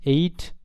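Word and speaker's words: ate: এইট এর উচ্চারণটা কেমন হবে, 8-এর মধ্যে, ইংরেজির 8-এর মধ্যে হবে। ইট, এইট, ইটেন।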